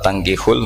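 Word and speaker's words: تَنكِحُوا: Jadi ya, saya ulang lagi ya, mestinya bacanya wala tangkihul musyrikati hatta yu'min bi fathit ta.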